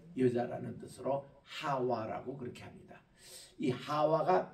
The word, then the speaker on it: 하와: 뜻으로 하와라 그렇게 합니다이 하와가 맞는 발음이 우리 한국말로이 하바 이게 이제 히브리말로 생명이라는 뜻인데 이거를 영어에서는 이브라고 번역합니다 그이